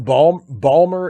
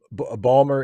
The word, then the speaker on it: Baltimore: hobby um uh jason balmer is a uh balmer is a is an acceptable pronunciation of baltimore yes balmer and and